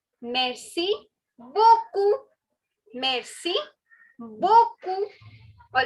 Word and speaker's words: beaucoup: So if you want to say thank you very much, you can say merci beaucoup. Beaucoup. The last P is silent.